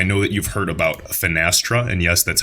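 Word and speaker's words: Finastra: news guys I know that you've heard about fenestra and yes that's how you pronounce it they are absolutely massive dating back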